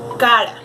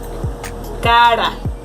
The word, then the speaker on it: cara: words like pera, caro, cara. Okay, so get ready. If you can see, the tip of the tongue goes in front of your mouth.